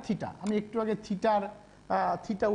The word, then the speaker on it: থিটা: এই সমকোণী ত্রিভুজের, এই সমকোণী ত্রিভুজের ধরা যাক এই কোণটা থিটা, আমি একটু আগে থিটার থিটা উচ্চারণটা শিখিয়েছি তোমাদের, এটা থিটা।